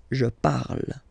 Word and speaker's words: je parle: ending e, and then the way to pronounce it is je parle, parle. So remember, we put it, okay, but then we don't really pronounce it.